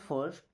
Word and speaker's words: फर्स्ट: करना फर्स्ट क्या बोलेगा फर्स्ट एक्चुअल में पे आर भी है। हम चाहे तो ऐसा बोल सकते हैं। बट आर हमारा यहां पे साइलेंट रहता है ना। फर्स्ट फ में थोड़ा सा जोर दे देंगे तो ये आर हमको नहीं बोलना पड़ेगा।